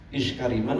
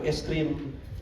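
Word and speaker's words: آيس كريم: Ini bacanya apa? Iskariman atau es krim? Hurufnya sama ya, iskariman atau es krim. Nah, kan kalau di Arab bacanya es krim atau eskariman? Es krim. Suka ada di Arafah ya, jualan es krim. Itu es krim bukan iskariman.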